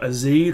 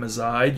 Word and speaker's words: azide: time very quickly here sodium azide or sodium azide you'll hear it pronounced both ways a white odorless solid